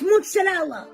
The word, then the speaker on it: mozzarella: As long as you get the z in there, you're fine.